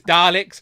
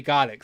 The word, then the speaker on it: Dalek: I know I'm saying it wrong. I know it's Daleks, but I think it's funnier to say Garlics.